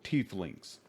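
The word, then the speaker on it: tieflings: other the suspicious people tee Lings the g is silent for a while teelings three tling male middleaged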